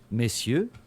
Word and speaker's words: messieurs: In entrambi i casi l'S del plurale non si pronuncia. Come in italiano, vous désirez. Come cazzo si pronunciava, porco il 2? Messieurs, vous désirez Vous désirez.